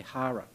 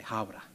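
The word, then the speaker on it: Hāwera: I heard you say hara, it's hawara.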